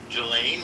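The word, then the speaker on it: Ghislaine: a deal with Gain the S is silent. Gelain Maxwell, she knows all the particulars, who, what, where, when, why, and how.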